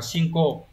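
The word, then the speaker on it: 進行: Từ này đọc là shinko.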